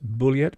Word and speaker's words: Bulliet: I think this third theory, put forward in 2016 by historian Richard Bulliet, I'm going to pronounce it Bulliet because I think he's not French but American, a professor emeritus at